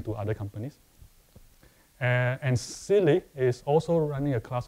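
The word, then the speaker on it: SIYLI: inside yourself Leadership Institute s y l y pronounced as silly silly.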